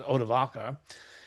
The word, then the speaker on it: Odoacer: And note that uh there is more than one spelling for odoaser and more than one pronunciation. I'm using primarily the one that's familiar to me odoaser but in that passage has been translated as odvaka.